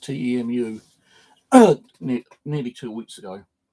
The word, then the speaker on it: Temu: ordered some stuff off can you link is pronounced to EMU uh nearly two weeks ago um and I